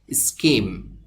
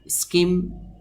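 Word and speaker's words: scheme: থাকে তো এই ওয়ার্ড বা শব্দটিকে আমরা এভাবে উচ্চারণ করতে পারি স্ক্যাডার স্ক্যাডার মিন বা মানে হলো ছিটানো বা ছড়ানো স্কিম স্কিম অর্থ পরিকল্পনা করা এখানে এই ওয়ার্ড বা শব্দটি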